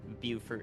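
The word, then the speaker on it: Beaufort: together but you know the Port Royal and Bower area buur area sorry I got the pronunciation now uh is in the line of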